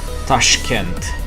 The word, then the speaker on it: Tashkent: Tashkent. That's how it's pronounced. And I think I'm trying to pronounce it as an English speaker.